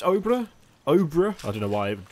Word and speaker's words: Obra: and it says at the bottom of this Oprah is pronounced like Cobra without the sea and it's